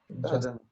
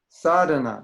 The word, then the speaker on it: sadhana: Sadhana. Okay, it's sadhana, not sadhana. Some people say it's sadhana. That's in South America.